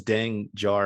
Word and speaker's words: Dengar: I thought you pronounced it as Dengar, and I'm like, that doesn't sound right.